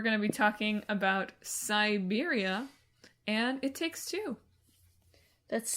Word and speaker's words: Syberia: We're instead talking about Syberia, like the country, but with a Y, like my joke, but not spelled like the word Psy.